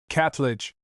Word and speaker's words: Kirtling: The local pronunciation of the name is Catledge, which is unhappily becoming